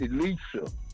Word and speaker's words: Elisa: Yesterday, y'all couldn't pronounce my wife's name. It's Elisa. Oh, my bad. Elisa.